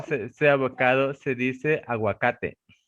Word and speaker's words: aguacate: Se dice aguacate. Avocate. Aguacate. Sí, agua, like water.